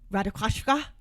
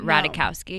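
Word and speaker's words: Ratajkowski: video where she says her name is actually pronounced Radakoska? No, I didn't. Cuz she's Polish. I mispronounced it. So, it's not Ra. It's I would say Emily Ratikowski. It's not that. It's not Radikowski.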